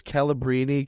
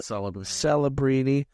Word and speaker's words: Celebrini: We slammed it because this Calabrini kid, or how do you say it? Celebrini.